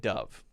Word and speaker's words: Dove: And the company is pronounced the second one, the noun form. Dove. Dove is the short U sound. But the other one is not the long U sound. It's the long O sound.